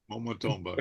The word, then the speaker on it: Momotombo: Glenn, don't worry, your pronunciation is very good. Momotombo. Momotombo.